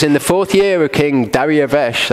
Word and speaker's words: Darius: different it says in the 4th year King Daria - that's Darius if you want to say his name wrong it came to be that the word